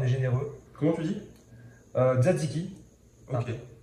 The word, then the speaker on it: tzatziki: Tzatziki. Ok. À pas confondre, les gens souvent disent tzatziki. Pas du tout, il y a un T, donc on le prononce. on prononce tzatziki.